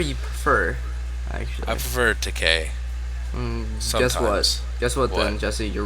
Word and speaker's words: Takei: Takei, as in gay. George Takei rhymes with gay.